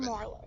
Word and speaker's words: Marlowe: Marlowe. Can you do it without the extra syllable in the What last extra name? one did I You were have? like Gavin Marlowe. Gavin Marlowe.